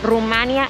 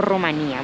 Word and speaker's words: Rumanía: son correctas y hacer en españa suele pronunciarse rumanía con acento en la y para asemejarse a la pronunciación en romano rumanía y en américa latina es como usar el diptongo rumanía bueno hoy amigos les